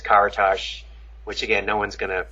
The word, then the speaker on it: Karatas: or and then the last name is karatash which again no one's